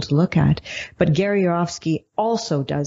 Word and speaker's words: Yourofsky: And you spell his last name Y-O-U-R, your, and then O-F of Sky, S-K-Y, Gary Yor of Sky, but it's pronounced Gary Yourofsky.